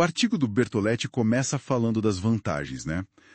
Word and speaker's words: Bertoleti: artigo recente do Petro Bertolette. Pronuncia-se Bertolete, certo? Isso mesmo, Bertolet.